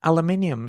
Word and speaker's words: aluminium: I also put an extra syllable in aluminium, so there.